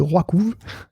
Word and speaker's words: RWKV: on prend l'exemple de Roikouv, je sais, ça s'écrit de manière encore plus imbitable que ça se prononce, hein, je vous rassure. Ça s'écrit RWKV.